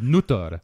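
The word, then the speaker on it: Noot: But however, when I came to introduce your name, I instinctively pronounce it with the Estonian pronunciation, which would be Nutter or N-O-O, if you want to say in English style, N-O-O-T, Nutter.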